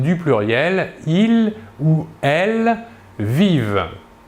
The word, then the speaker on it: vivent: pluriel ils ou elles vivent nous remarquons ici que la terminaison ent à la fin du verbe conjugué à la troisième personne du pluriel ne se prononcent pas nous pouvons remarquer aussi